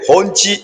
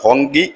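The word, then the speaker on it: Hongqi: ആ കാറിന്റെ പേര് ഹോഞ്ചി എന്നാണ്. ഹോഞ്ചി. ഞാൻ ഈ പേരുകൾ പറയുമ്പോൾ പ്രിയപ്പെട്ട പ്രേക്ഷകർ ഒരു കാര്യം ആലോചിക്കണം. ഇത് ചൈനീസ് പേരുകളാണ്. ഹോങ്കി എന്നാണ് ചിലർ പറയുന്നത്, ഹോഞ്ചി എന്നാണ്.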